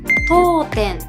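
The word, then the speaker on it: 読点: 読む点と書いて読点と言います。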